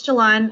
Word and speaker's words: Jalon: things right so um is it jalen or jalon i'm always saying your name wrong and i apologize that's fine it's jalon i i i see